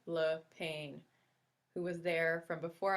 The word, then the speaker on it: Lapine: Brère Lapine, pronounced Le Pain, who was there from before I arrived and stayed at St.